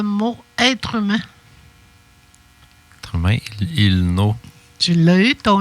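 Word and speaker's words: ilnu: Être humain, il-no. Tu l'as eu, ton I, là, hein, gars? Tu l'as entendu, là? Être humain. I. Tu le prononces, ton I, là. Il-nous. Le I, on l'entend comme faux. Il-nous.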